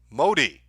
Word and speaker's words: Madi: Also, my last name is pronounced Modi.